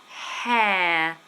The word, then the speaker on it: hair: diff thong e here and hair hair so two words there with an r that we don't pronounce here is my hair